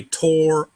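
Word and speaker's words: תורה: But in Hebrew, it's got to have a closed syllable. So you move that R over to the A, and it becomes Torah. That's a better pronunciation to Hebrew.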